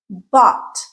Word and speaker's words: bought: Thought bought. They're all going to rhyme with caught, like I caught the ball.